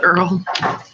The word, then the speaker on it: URL: The Earl. The URL, no, I don't. I'm not saying it. I say URL to economize on syllables.